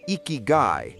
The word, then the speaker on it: Ikigai: The word iky pronounced iky roughly translates to a reason for being or the value of life.